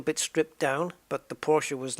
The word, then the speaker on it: Porsche: liked Porsche and I even learned how to pronounce it correctly Porsche such was my love and uh and what